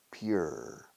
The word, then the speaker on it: pure: Pure. Pure. Como la ciudad Piura in Peru.